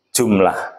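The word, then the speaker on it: جملة: Kemudian kalimat dalam bahasa Arabnya adalah jumlatun. Jumlatun itu kalau dibaca waqaf membacanya jumlah.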